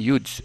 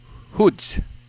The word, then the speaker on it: Hudes: si Karen hudes ano Karen hudes hu d e s no Karen huds no Ibang ibang pronunciation Karen hoods Okay so si Karen huds